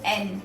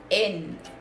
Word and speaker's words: en: Yo vivo en. This is not in. This is not in. English वाला in नहीं है. You can't pronounce it like that. You have to pronounce it like en.